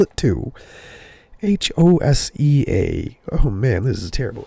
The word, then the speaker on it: Hosea: I believe I'm saying that right, but I'll spell it too. Hosea.